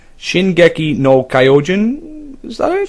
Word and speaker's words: Shingeki no Kyojin: I'm gonna have a go trying to pronounce this. I think it's Shingeki no Kyojin. Is that it? Shingeki no Kyojin.